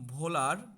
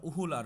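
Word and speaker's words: Wöhler: আস্তে আস্তে বিজ্ঞানী ভোলার, কেউ উচ্চারণ এটাকে ইংলিশে যদি উচ্চারণ করতে যাও, তখন এটার উচ্চারণটা উহুলার হয়, ইউলার হয় সহজ কথায়।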